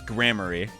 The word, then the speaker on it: Gramarye: Apparently, it's pronounced Godot. No, it's grammary.